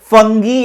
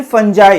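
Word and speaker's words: fungi: जैसे कि एनिमल्स हो गए, प्लांट्स हो गए, फंगी या फिर फंजाई। इसको अलग-अलग प्रोनाउंस करते हैं।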